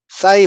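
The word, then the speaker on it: ψ: 공식에 보면은 부사이 W 사이 사이라고 읽는 거 그 영어식 발음이에요 영어식 발음인데 사이는 이렇게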